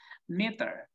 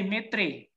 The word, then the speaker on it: meter: And the same with the second one, meter, meter. You cannot say metri, okay?